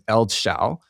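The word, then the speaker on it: eldsjäl: On the Tim Ferriss podcast, Daniel Ek said that the pronunciation is Eldshall and that it's actually a very special Swedish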